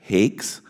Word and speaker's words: Hakes: Hakes, and my notes said rhymes with cakes.